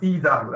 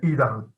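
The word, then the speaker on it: Ydar: Yeah, it's pronounced Idar. I know it's a bit weird because the pronunciation is fucked up, but yeah, Idar. That's the way it's pronounced.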